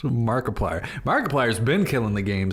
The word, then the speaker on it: Markiplier: annually from ads alone markiplier son it's easy to forget why do you say his name like that markiplier he's just markiplier markiplier's been killing the